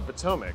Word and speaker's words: Potomac: How did you pronounce the river? Oh, the Potomac.